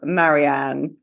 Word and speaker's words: Marianne: who's not aware of Marianne, Dr. Marianne Yeah. So, yeah. So, Dr. Marianne at Dr. Marianne, and my first name is spelled the French way, Marianne.